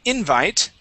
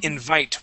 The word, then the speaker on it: invite: here is invite so instead of saying invite we say invite with the accent at the end of the word okay invite okay try